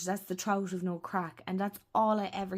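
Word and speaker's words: craic: So, and in in Ireland, I should explain, crack is fun. Joy. That That's what we mean when we say crack. It's spelled c r a i c. That's how we spell it here.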